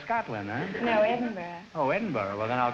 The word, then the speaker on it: Edinburgh: say how old are you EV well I pronounce good evening where are you from Evelyn Evenston Illinois no Edinburgh Scotland oh Edinboro Scotland no Edinburgh oh Edinburgh well then I'll call you Evelyn